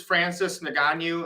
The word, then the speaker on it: Francis Ngannou: This is Francis Ngannou, I think.